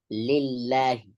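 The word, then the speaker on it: لِلّٰهِ: is when he says lillahi. Okay? Wallam lillahi. Lillahi. Okay? The lam here has to be pronounced with tarqiq.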